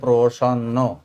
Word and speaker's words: প্রসন্ন: এই এতগুলো বর্ণ মিলিয়ে তৈরি হলো প্রসন্ন। পয়রপ্র প্র, এই প্র যখন উচ্চারণ করছি এখানে কিন্তু অ এসে যাচ্ছে। স, এই যে স, অন্ন ন, প্রসন্ন। প্রসন্ন শব্দের অর্থ সন্তুষ্ট, সমান সমান নয় কমা, বা তৃপ্ত।